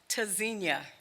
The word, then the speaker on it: Tzynya: burdened with pain pronounced tezinia verb from Hebrew it means to listen for or to hear spelled t-z-y Nya the first letter T is a stop disrupts airflow quick sharp staccato repeat after me hard